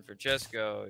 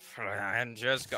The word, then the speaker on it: Francesco: I can't roll my R's. Like she does it like five Francesco. Times. Francesco. Bernoulli. No wonder there's a crowd. Hey, why do you say his name? And don't say it like that. It's three syllables, not ten.